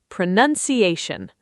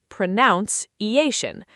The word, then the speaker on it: pronunciation: Word six, pronunciation. Pro-nun-ci-a-tion. Almost. The mistake most people make, including English teachers, is saying pronounce-e-ation, like the verb pronounce.